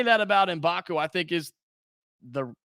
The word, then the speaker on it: Mgbako: these guys performance and to say that about inbaku I think is the correct way to do